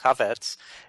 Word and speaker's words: Chafets: it's spelled c h f TS but it's pronounced ketz it's uh it's Rush limbo an army of